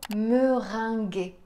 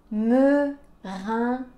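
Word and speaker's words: meringuée: un i un Mering gu en français quand on a la lettre G suivie d'un U on a le son gu gu et donc on va avoir me ring la tarte au citron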